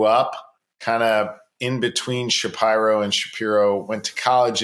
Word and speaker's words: Shapiro: to say it and we actually traced it back to sort of the roots of the name to the town of spire in Germany and Shapiro is the correct pronunciation so that's kind of